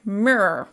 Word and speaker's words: mirror: I was saying something like mirror, mirror, mirror, mirror. I can't even really say it. Mirror. I have to really remember to move my mouth a little bit more. Like the word rural, it's hard when there's so many R's together.